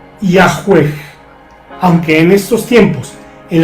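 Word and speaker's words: Yahvé: español por esta circunstancia la pronunciación original del nombre de Dios desde el tiempo hebreo no puede establecerse aún con exactitud los eruditos modernos conjeturan que originalmente se pronunciaba yue Aunque en estos tiempos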